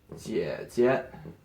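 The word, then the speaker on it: 姐姐: For older sister, that is 姐姐, 姐姐. Yeah, so that was a neutral tone.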